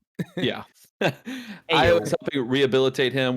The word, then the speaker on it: Ayo: Pretty sure it's Io not is AO. Yeah. Ayo.